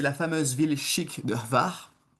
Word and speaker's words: Hvar: Juste en face, c'est la fameuse ville chic de Hvar, que l'on prononce avec le petit H avant, hein, Hvar. C'est important pour eux. Ils comprendront pas si on dit juste la ville de Var.